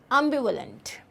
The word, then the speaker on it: ambivalent: इट्स बी व में हल्का सा ह का साउंड आएगा. व लेंट learned. ambivalent.